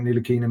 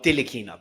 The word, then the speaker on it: Ntilikina: Is it pronounced Ntilikina or Dilikina? Because it's an NT. Ntilikina, no T. So no it's D. a silent T.